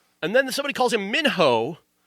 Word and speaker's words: Minho: The character Minnow, I mentioned him. Minho is his name, but his name is pronounced 7 different ways in this movie.